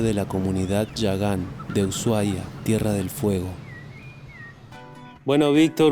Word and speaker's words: Ushuaia: Bueno, mi nombre es Víctor, yo nací acá en Ushuaia, en Ushuaia, como decimos los yaganes, una pronunciación un poco diferente a lo que tenemos en la actualidad.